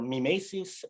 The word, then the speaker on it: mimesis: omaha meticulous team that there are different ways of pronouncing my mises i'm now conforming to the english version due to the language we use but if you are a classicist you will go for mimesis and we'll have some